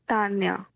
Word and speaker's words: Tanya: By the way, how do I pronounce your name? it's Tanya.